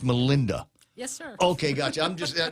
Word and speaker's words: Melinda: It is pronounced Melinda.